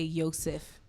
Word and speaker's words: Yosef: shabbat shabbat does not mean that they say yosef they don't pronounce certain the first letters probably shabbat is